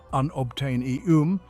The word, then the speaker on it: unobtanium: tennessine under its soil unobtanium pronounced unobtainium is a highly valuable